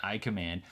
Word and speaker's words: iCmd: to like it it's called i command i think icmd that's how i'm going to pronounce it i command and it's about working